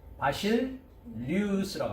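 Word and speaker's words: βασιλεύς: 멜레크를 왕이라고 하고, 헬라어로 가면 935번 뭐라고 발음합니까? 바실리우스라고 합니다.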